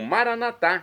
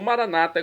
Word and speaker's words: Maranata: E agora eu clamo Maranatá, como dizemos nós católicos, ou maranata, como dizem nossos irmãos, separados das comunidades evangélicas ou protestantes. Não importa a pronúncia, o significado é o mesmo. Maranata ou maranatá.